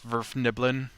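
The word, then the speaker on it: Svirfneblin: not your words this Verna Boleyn I guess it's a very weird name server Neverland except it's all one for it there's no pause in there I don't look it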